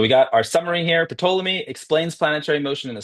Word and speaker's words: Ptolemy: Yeah, Ptolemy.